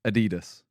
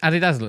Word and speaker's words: Adidas: This is one thing though that I feel like Americans say Nike and Adidas. Yeah. And you are right with Nike, but we are right with Adidas. Isn't it Adidas?